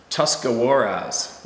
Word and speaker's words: Tuscarawas: It's a stretch of road that runs very close to Tuscarawas, pronounced Tuscarawas River.